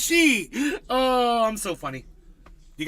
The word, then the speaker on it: Xi: is she x i it's pronounced she oh I'm so funny